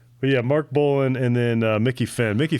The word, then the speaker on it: Bolan: Bolan. Bolan. Yeah, I'm pretty sure. I actually It looks like it, but I didn't know. Yeah. Mark Bolan and then Mickey Finn.